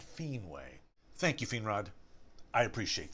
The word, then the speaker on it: Finwë: So, unless I eventually find that mysterious passage, I'm going to start pronouncing the W umlaut E as way, as in manwe and fienwe.